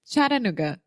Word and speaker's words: Chattanooga: a city in Tennessee the first sound the CH is a CH just like in exactly yeah Chattanooga which I really want